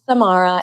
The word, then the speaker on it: Samara: As Forbes Riley said, my name is Samara. It Samara. rhymes with Tamara, but I'll get it to you today.